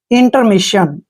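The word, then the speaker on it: intermission: Next word है that is important word INTER, IN को हम पढ़ेंगे इन, और TE का उच्चारण टे करेंगे, R को रे पढ़ेंगे, इंटर। MI को हम मी पढ़ते हैं, डबल एस का उच्चारण शे करेंगे। IUN को देखिए यहाँ पे न ही लिखना है, यानी कि मिशन, इंटरमिशन, इंटरमिशन होता है अवकाश, एक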